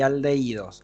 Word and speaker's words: aldehídos: Alcohol, ahí le falta una O, y aldehídos. Acuérdense que tiene un acento en la I.